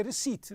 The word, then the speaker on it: receipt: The letter P, I told you that the letter P you don't pronounce it, you say receipt.